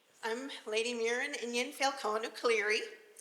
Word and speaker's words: Muirenn: I'm lady mirin and Yan Falone clear hi yes hi hi everybody yes it's an Irish name it's not spelled the way it's pronounced of course as I